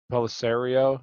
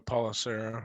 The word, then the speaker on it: Pelissero: Uncertain for week three, according to NFL Tom Pelissero. Is that how you say his name? Pelissero? I'm not sure how do you say his last name exactly. Um, if mild, I've heard maybe. Policero. Yeah. Pelissero, okay.